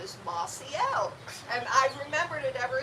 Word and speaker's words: Mossiel: how to pronounce it it's an L made of moss it's a Mossy it's